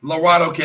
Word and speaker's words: Laredo Kid: Laredo Kid, that's how you pronounce it. I keep wanting to say Laredo.